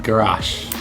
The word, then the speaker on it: garash: Yes, and we got gulash cake. That's how you pronounce it, right? Yeah, gulash.